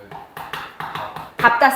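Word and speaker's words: 밟다: 자, 근데 리을 비읍인데 비읍으로 소리 나는 비정상인 애들이 있어. 어떤 애들? 밥다 시리즈. 밥다, 밥고, 밥지. 얘네들은 예외예요.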